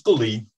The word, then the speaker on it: Gully: So, without further ado, let's say hello to Ghoulie. Are you there, Ghoulie? Yes, I'm here. Perfect. So, am I pronouncing your name right? Yeah, it's okay. It's Gully. Gully.